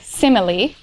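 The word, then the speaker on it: semely: in Modern English um seamly at this point would have had three syllables to it so something like simile um no apostrophe s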